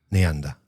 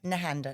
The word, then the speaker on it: Nehanda: But is that how you pronounce it? That's how we pronounce it in my family.